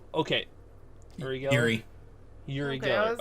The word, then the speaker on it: Uri Geller: okay, Yuri Geller.